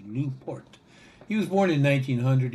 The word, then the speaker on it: LaPorte: I'm told in Italy it's pronounced Luport.